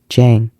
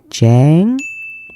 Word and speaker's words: chán: J Jang Jang J if you are saying Jang you're wrong Jang Jang Jang Jang it should be Chang Chang Chang Chang Chang